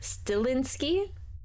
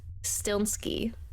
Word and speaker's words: Stilnsky: I've seen a lot of people say Stilinski, but it's Stilnsky. There's no I after the L.